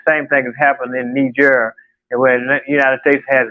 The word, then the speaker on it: Niger: And the same thing has happened in Niger, where the United States has 1,100 troops there, and France has been basically kicked out.